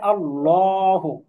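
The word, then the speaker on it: اللهُ: আল লাম খাড়া জবর লা হা পেশু এটার উচ্চারণ হবে আল্লাহু এটা পুর হবে এটা আমরা সামনে শিখবো ইনশাল্লাহ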